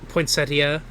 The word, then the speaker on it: poinsettia: you keep going uh I think it is pronounced poinsetta poinsettas poinsettia uh and as as they're having a moment